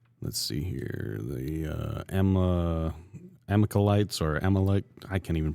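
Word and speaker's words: Amalekites: The uh Amalites or Amalcch, I can't even pronounce it. Amalachites.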